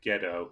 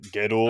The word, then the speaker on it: Gedo: I mean, I think it's just the fact that the O is elongated, which sometimes they write that as an OU, so it'd be like Gedo.